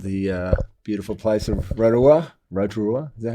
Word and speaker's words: Rotorua: Rotorua, is that how you say it? Rotorua, yeah.